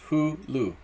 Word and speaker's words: Hulu: It's 1 word, right? There's no spaces. Hulu. But it's 2 syllables. Hulu.